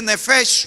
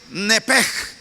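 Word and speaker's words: נפש: En el hebreo la palabra alma se dice nefesh, otros lo dicen nepej. Pero hermano, como sea la pronunciación, el resultado siempre es el mismo.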